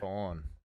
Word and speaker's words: Khorne: Khorne.